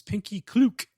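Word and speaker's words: Pinkie Cleugh: is marching on and i looked up this pronunciation it's pinkie klook and they have to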